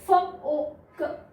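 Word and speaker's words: folk: इसमें हमारा जो एल है वो साइलेंट है, य ओ क, योक, और इसमें भी एल साइलेंट है तो फोक, फोक, फाइन।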